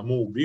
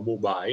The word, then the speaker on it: MUBI: cinefila che si chiama mubi o mubai a seconda di come lo pronunciamo che c'è anche in